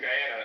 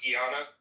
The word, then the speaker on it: Guyana: And I'd be like, "Yeah, you know, cuz my family's from Guyana." And she would literally be like, "It's pronounced Giana."